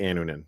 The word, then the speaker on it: Annunen: Keegan says, finally got my Annunen call up, and I know it's Annunen. Maybe some people. I've heard it 3 ways on the broadcast. I say Annunen, so sorry. I have the emphasis on the wrong syllable.